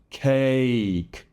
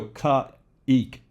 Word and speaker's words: cake: Cake. So sometimes you want to go ka-ik, or kaik. Don't put extra sounds. This is a glide. This is the first glide that we're going to talk about. So be careful with that. It's one continuous sound.